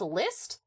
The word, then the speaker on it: PYST: The game PYST is pronounced list. What language does a P sound like an L in?